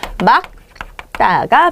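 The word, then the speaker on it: 맑다: 다 바음 말라고 하세요 그러지 마시고 예 기 기억이니까 어디에 여기죠 여기 그러니까 얘는 뒤에 있는 기억으로 발음 하셔야 됩니다 그래서 뭐가 표준 발음이에요 막다가 표준 입니다 그래서 일단요 원칙을 기억해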